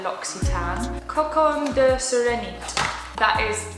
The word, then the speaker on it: L'Occitane: L'Occitane is a brand that I had been pronouncing wrong for most of my adult life. Rather than L'Occitane, I thought they were called L'Occitane, but they're L'Occitane.